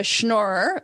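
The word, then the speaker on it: schnorrer: Christmas first of all I'm a schnor which rhymes with manora which a schnor is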